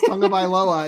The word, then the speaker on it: Tagovailoa: Because you pronounce it with like an N in there, right? It's Tagovailoa.